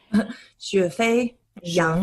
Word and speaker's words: Xuefei Yang: And also before we start, can I just ask how to pronounce your full name? Xuefei Yang.